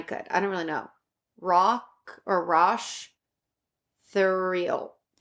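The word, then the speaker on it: Roch Thériault: They call on the last podcast, they pronounce it Rock Thoreau. Thoreau? Okay, that's how I was saying it in, like, I didn't know the rock part, but Rock Thoreau.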